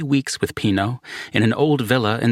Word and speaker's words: Pino: But then I learned that Pino, pronounced Pino, was still alive some six decades later and back in Italy after nearly 30 years in Beverly Hills and Mammoth Lakes, California.